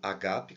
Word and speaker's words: ágape: Existe uma ideia equivocada que nesse diálogo Jesus teria perguntado assim: Pedro, tu me amas com amor ágape, o agape, que seria a pronúncia correta, e Pedro responde: Senhor, na verdade eu amo, mas só com amor filéu, ou seja, um amor menor.